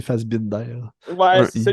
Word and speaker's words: Fassbinder: C'est Fassbender, puis l'autre, c'est Fassbinder.